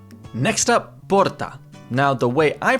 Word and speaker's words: porta: You just need to know that in different parts of Brazil, it's either going to get pronounced porta, like with the H, or porta, or porta, like an American R, which if you really